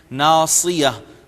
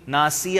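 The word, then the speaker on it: ناصية: کا تلفظ کرنا ہے، ناصیہ یہ اس کو سین نہیں پڑھیں گے، ناسیہ نہیں کہیں گے ورنہ مفہوم ہی بدل جائے گا۔ ناسیہ بھولی ہوئی عورت، اور ناصیہ پیشانی۔ تو آپ کو نظر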